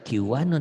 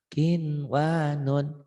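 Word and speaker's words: قنوان: gabungan satu kata maka tidak jadiin Gom maka dibacanya Idhar ini yang dikatakan Idhar mutlak jadi jangan dibaca kwanon dibanyakin wanun kumama di jelas dicentang ini latihan aja nggak boleh ya kejadian tak gentar qinwanun qinwanun itu hanya ingin menegaskan aja Berikutnya ini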